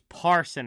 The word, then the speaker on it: Parson: look it up again 75 for the Predators is Parson and not person and that's my bad